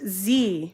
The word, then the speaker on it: dzi: necklace ah pamela yes dzi it's pronounced z okay thank you all